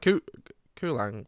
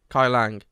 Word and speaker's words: Kuai Liang: So it looks like Kulang, but it's not. I'll send it. Kai Lang, yeah.